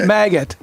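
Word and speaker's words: MAGAt: Maggot. Oh, I was at Stanford. Okay. U Maga with the T. So it rhymes with maggot like an immature fly.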